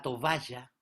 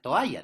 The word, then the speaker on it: toalla: al decir tovalla, que al decir toalla está mal pronunciado porque a eso debe faltarle una B. Entonces, para hacerlo mejor, dice tovalla.